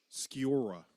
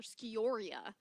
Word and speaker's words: Sciorra: Sciorra is how I would say. Oh, Sciorra? Okay. Sciorra. Yeah, I know how it's spelled, but saying it, my brain is like, I always want to call her Scioria, which it's not.